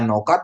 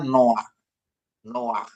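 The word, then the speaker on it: נח: kan no gitu ya aturannya bacanya Noka secara bacaan biasa tapi bukan dibaca Noka tapi baca no no ya Bapak Ibu ya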